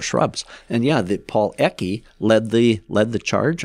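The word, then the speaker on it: Ecke: uh the was celebrates Paul eki I think that's how he pronounced his name a e c ke e c ke Paul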